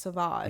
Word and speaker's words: Sauvage: think like well it's spelled Savage but it's pronounced sauvage yeah this is the pronunciation yeah it makes